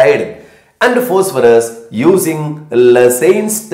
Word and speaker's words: Lassaigne: and the phosphorus using la saints test lassens test g with a silent and laser test sodium